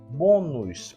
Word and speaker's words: bônus: é de sílaba então a sílaba tônica de tênis é o tem e na palavra bônus é o bom bônus por isso a sílaba